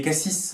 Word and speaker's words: CASSYS: Donc moi j'ai 38 ans, j'ai créé Cassis Informatique, qui s'écrit C-A-2-S-Y-S.